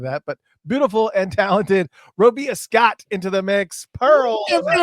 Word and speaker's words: Robia: Robia correct you are Robia like Maria Robia perfect I was